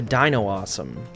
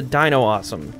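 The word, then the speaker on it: Dinossom: one right Dino awesome I know it's supposed to be like Blossom but they threw in like Dino because it's like a dinosaur that has like flowers and plants on it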